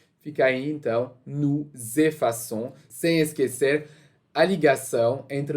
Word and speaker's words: effaçons: Então, nós apagamos, não pode ficar dessa forma, senão vai ficar o som de nous effacons. Então, para evitar pronunciar com, a gente vai adicionar uma cedilha no C. Fica aí, então, nous effaçons, sem esquecer a ligação entre o nous e o effaçons.